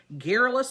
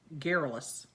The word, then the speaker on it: garrulous: silent machines had replaced garrulous servants at some tables. And by the 1750s... What was that word? Garrulous. Garrulous. That's how you pronounce it.